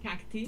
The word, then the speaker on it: cacti: So I mean obviously it's a it's an anglified pronunciation of the Latin ending.